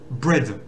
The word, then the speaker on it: bread: le son est donc ça fait bred un peu comme Fred donc sans oublier le vert